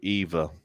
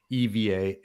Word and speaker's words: EVA: So you actually pronounce it EVA, not EVA. Yeah, I think it idea. is. And I've even asked them before, and I think you're right on that.